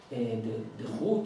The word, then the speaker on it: de Groot: Already 150 years ago, the Dutch sinologist, de Groot, let me pronounce his name correctly, de Groot, he said that he noted the irony that